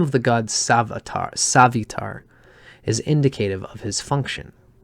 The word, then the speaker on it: Savitar: Savitar is how it's said here.